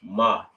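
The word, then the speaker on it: מה: It's pronounced ma. Not like mamas, you know how we like to call our moms for short, like, hey, ma.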